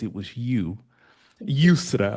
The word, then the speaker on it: Yusra: Yusra, right? And like that's your head. Is your name Yeah. is Thank you for you pronouncing know. well in Arabic. It was because it was Yusra.